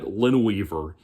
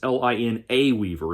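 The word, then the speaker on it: Linaweaver: David Abhue and Brad Lineweaver, and 2 people with unbelievably difficult names to pronounce. Even Brad Lineweaver, you would think it's Line Weaver. No, it's Lina Weaver.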